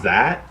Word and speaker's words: Xat: You know what Zat is, or Yes. XAT, or how we pronounce it? XAT. Yes, whatever. yeah. We I talked do on know. Zat, which is like an RP community Right.